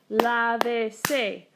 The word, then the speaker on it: lávese: And then we've got lávese, 3 syllables. So here's my first vowel, here's my second vowel, accent on the third.